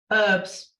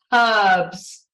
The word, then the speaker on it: herbs: what do we say herbs herbs what should we say ABS oh you pronounce the h why wouldn't you I